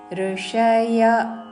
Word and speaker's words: ఋషయః: నిర్వాణం ఋషయః క్షీణ కల్మశాః ఋషయ తర్వాత విసర్గ వచ్చారు రణ పక్కన క్షతో పదము ఉన్నది కాబట్టి అపవాద నియమానుసారము విసర్గ ఉచ్చారణ పూర్తిగా చేస్తూ అంటే హ అని పలికి ఋషయః తర్వాత క్షీణ కల్మషాః క్షీణ